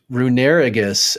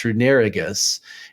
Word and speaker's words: Runerigus: another one um I don't know if I'll pronounce this right but it's runerigus r u n r i g u s runerigus and it says runerigus is a ground Ghost